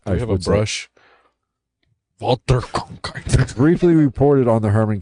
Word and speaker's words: Walter Cronkite: All right, Walter Cronkite, then a prominent CBS... You said it wrong. Walter Cronkite.